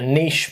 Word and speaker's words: niche: your Niche so companies can look for a niche market and you can find your niche in